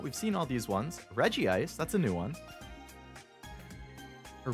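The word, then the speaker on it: Regice: Again, that's another one where it's like I always pronounce it as reggi ice, but I definitely know people who pronounce it as re ice, but you have Reggie Rock and Reggie Steel. So, to me, this should be Reggie Ice, right?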